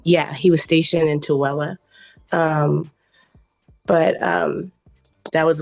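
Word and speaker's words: Tooele: So he didn't go to he didn't go to toi Tela is pronounced Tella and um yeah he was stationed in Touella um but um that was when he was 20 something years old.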